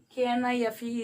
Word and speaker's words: knife: The spelling shows that K-N-I-F-E is, but still we are pronouncing it as knife, isn't it?